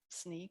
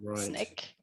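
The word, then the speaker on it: Snyk: name of the company is actually sneak which is a little tricky um pronounced sneak or snake depending on on who you're talking to in the organization and and does it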